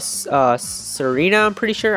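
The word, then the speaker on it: Tsareena: evolve into something called Serena, I'm pretty sure. I think the T is silent here.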